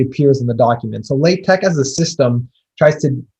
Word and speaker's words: LaTeX: on like the pronunciation it's late tech not like tex or lat tech um sometimes and it's